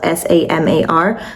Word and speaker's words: Samar: So it's spelled s a m a r.